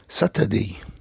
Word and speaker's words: Saturday: نلاحظ ان الار لا تنطق. ليه؟ عشان الار في البريتش بعد الحرف المتحرك اللي هو اليو لا تنطق، وبنطول شوية في اليو وخليها long vowel زي كلمات كتيرة زي كا، مقولش كار طبعا.